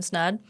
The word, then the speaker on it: Snaadt: Well, I am Snaadt, married to Ryan Snaadt. It rhymes with odd.